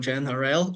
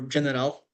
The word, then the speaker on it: GenRL: All right, so as James already introduced, today we're talking about GenRL or General. Personally, I prefer the latter, but everyone pronounces it differently.